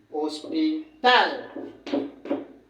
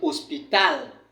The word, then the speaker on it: hospital: Ça veut dire que quand on a dit que lorsqu'un mot se termine par les consonnes, l'accent se place plutôt à la dernière syllabe. Ça veut dire qu'ici là, on va dire hospital.